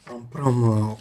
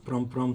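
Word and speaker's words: Prampram: pr pr au Gana effectivement vous avez bien prononcer Prom Prom au Ghana Prom Prom c'est une ville du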